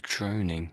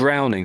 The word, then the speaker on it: drowning: A droning. A droning. Mhm. It's not. In the Oh, water. drowning.